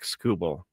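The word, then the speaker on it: Skubal: It's TK Scubble. Oh, see, there you go. Yes. I was trying to make him a uh a uh a foreign pitcher.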